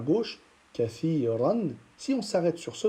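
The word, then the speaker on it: كثيرا: Donc on dira kathira, kathira. On ne dit pas kathiran. D'accord? On ne prononce pas le tanwin si on s'arrête sur ce mot-là. Mais plutôt, on va prononcer une fatha qu'on va allonger.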